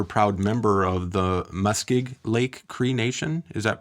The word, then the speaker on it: Muskeg Lake: You're a proud member of the Muskig Lake Creation. Is that pronounced correctly? Muskig Lake creation.